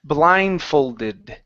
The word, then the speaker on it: blindfolded: all right uh Wellington let's hit this Ed ending here so it's this is blindfolded blindfolded there you go that's